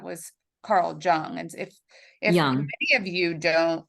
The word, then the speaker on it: Jung: many of you don't, did I say Jung? Yeah, it's young. I always do that. I know it's Young and I say Jung all the It's time. spelled with a J.